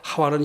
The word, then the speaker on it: 하와: 2분은 영어식 발음이 고 하와는 히브리 식 발음 그러니까 영어식 발음으로 하고 싶은 분은 입으라고 해도 되고 싶 우리식 바로 본토 발음으로 하고 싶으면 은 하원 하고 해도 됩니다 일루 양이면 하와 라고 하는게 낫겠죠 그죠 예 물론